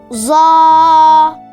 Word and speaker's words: ظ: ZA. ZA. You can spell it in English as Z-U-A-A. ZA. It sounds like Z sound not prolonged and A sound prolonged with full mouth.